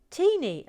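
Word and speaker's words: Tŷ Ni: and their Burruss with it's a very small house called T knee that's how you spell it T knee which means our house but is also pronounced tini oh I love that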